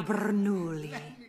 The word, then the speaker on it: Bernoulli: Francesco Bernoulli.